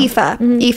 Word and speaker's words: Aoife: She, like, for example, it's Aoife or it's Aoife or Aoife or Aoife. I had a friend named Aoife. Yeah, it was spelled it's like that. That's the only yeah, reason I know. Aoife.